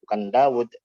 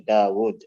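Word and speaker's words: داود: Secara bacaan ada, tapi tulisannya tidak ada, seperti waw pada Daud tadi. Nah, tulisannya nggak ada, tapi bacaannya tetap harus ada Daud. Jadi bukan Daud, tapi Daud. Begitu pula apa?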